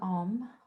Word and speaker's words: om: going to chant the sound of om which includes three syllables and silence so there's four parts to the breath a u m silence and all four parts